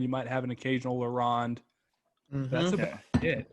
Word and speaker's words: La Ronde: You have to say it with like a rumble in your voice. La Ronde. Yeah. I learned that directly from a manager at La Ronde, so I feel like I say it right, but I probably don't. my American ass. La Ronda. La Ronda. You know, Rhonda down the street.